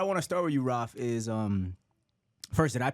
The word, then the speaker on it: Rafi: Rafi. That's better. That's it. Rafi.